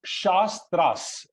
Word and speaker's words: shastras: a tra right so whenever we use a vowel with capital letter it means it has to be pronounced long right so shastras right so that's a